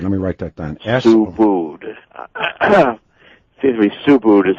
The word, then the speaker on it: Subud: sect, which is Subud, S-U-B-U-D. That's how that's pronounced as well? I've been saying... Subud. It's like S-O-E-B-O-O-D is how you say it. Let me write that down. Subud.